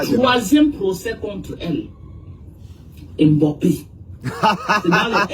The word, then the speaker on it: Mbappé: La façon de prononcer Mbappé. Voilà, Mbappé.